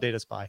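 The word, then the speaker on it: DataSpii: So we'll call it Data Spy, but it is spelled S-P-I-I.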